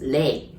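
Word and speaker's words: 零: pretty easy so zero there are two ways of saying zero right the first way is zero or second way is lei this case we use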